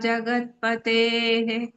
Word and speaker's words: जगत्पतेः: Jagatpatehe. In the end, if you have visarga, you have to pronounce that. Jagatpate, don't stop it.